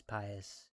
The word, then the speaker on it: Pius: Pius. Not like Prius, it's Pius. And he just got there in an instant.